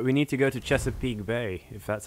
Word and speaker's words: Chesapeake Bay: Chesapeake Bay.